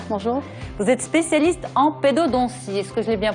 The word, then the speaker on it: pédodontie: Vous êtes spécialiste en pédodontie. Est-ce que je l'ai bien prononcé?